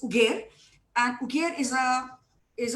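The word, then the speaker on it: Uger: called ugar ugar uh while the spelling is u g e r and everybody thinks it's probably Uber ugar to rhyme with Uber but that's not so it's ugar and ugar is a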